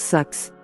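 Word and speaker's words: Sachs: Ça se prononce Sax.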